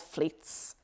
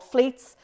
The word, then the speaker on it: Fleets: in late 2020 and they're called fleets yeah it rhymes with tweets and they're called fleets they flutter away after